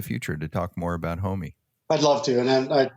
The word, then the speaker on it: HOMEE: That long mark over the E signifies the long E, so it's a HOMEE, and it looks like a garage as well.